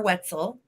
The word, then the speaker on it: Wetzel: on the bottom our wetzel like a pretzel rhymes with pretzel thank you so much